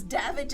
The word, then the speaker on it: Davidge: the way you said it's Davidge as in savage I would have pronounced